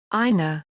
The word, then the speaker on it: 稲: The C component means rice plant, is written a in hiragana and is pronounced ina.